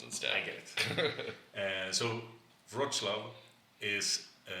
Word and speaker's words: Wrocław: And then we pronounce it Wrocław? Wrocław. Yeah, Wrocław would be the incorrect way. It has this little L that has a dash through it, which is a W.